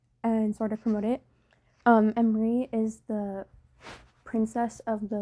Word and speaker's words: Emris: Hello, this is a time lapse of my character sheet for my character em-ree. The S is silent.